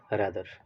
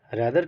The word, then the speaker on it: rather: एक है रादर, दूसरा है रादर। रादर अमेरिकन स्टाइल में बोलते हैं और रादर ब्रिटिश फैशन में बोलते हैं।